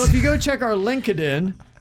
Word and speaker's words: LinkedIn: after 10 years that linkedin is not pronounced lin kiddin i spent all day wondering how many meetings i've actually said that in lincoln lincoln so if you go check our linkedin sounds like a friend